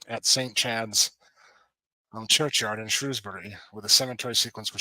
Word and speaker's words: Shrewsbury: And that is the proper way to say those, is Shrewsbury and Shropshire.